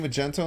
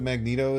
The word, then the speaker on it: Magneto: to go for it he's saying Magento instead of Magneto is oddly infuriating well maybe you should just like start saying it right and say same magenta